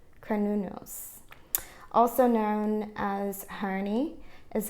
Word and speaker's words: Cernunnos: Okay, so they tell you how to pronounce it in here. It's Cernunnos.